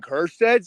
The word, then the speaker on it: Kjerstad: Heston freaking Kjerstad, silent J. The J is silent.